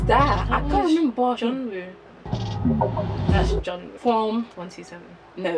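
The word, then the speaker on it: Jungwoo: Oh, Joe. Oh. I said it wrong, didn't I? Yeah, Jeonwoo.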